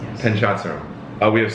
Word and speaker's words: Panchadsaram: What I've learned with Ryan, it's the first time I'm ever actually pronouncing your last name. Go for it, give it a shot. Panchadsaram. Perfect. Panchadsaram, yes. Panchadsaram.